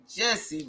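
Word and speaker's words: Jussie: Jesse rhymes with Tussie.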